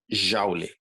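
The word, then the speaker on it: joule: da humanidade chamada de jauli escreve dessa forma tá se escreve julie mas a gente fala já igual house na casa em inglês jauli o símbolo vai ser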